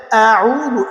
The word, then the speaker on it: أعوذ: এখানে কুল কফটা উচ্চারণ করতে আউযু, এখানে হামজা আছে, এখানে অনেকজন ভুল করি। এখানে অনেকজনে ভুল করি, এই হামজা আর আইন একসাথে বলে দিই, আইনের সাথেই উচ্চারণটা হয়েছে, হামজাটা ছুটা পড়ে যায়।